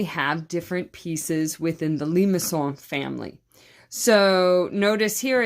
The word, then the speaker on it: limaçon: And it looks like limacons, and some people will say that, but it's really limaçon. Sounds very French, and that's how it's said, limaçons.